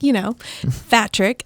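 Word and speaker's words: Phatrick: Like a fat trick? Mm-hmm. What's his name? Patrick. Yeah. Okay. That's not Fatrick. He's Asian from Texas, Fatrick.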